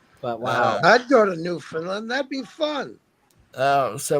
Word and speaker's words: Newfoundland: And Newfoundland rhymes with understand. So Newfoundland.